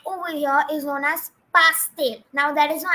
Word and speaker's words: pastel: So don't pronounce it as pastel. You don't have to say them as pastel colors, but it is pastel.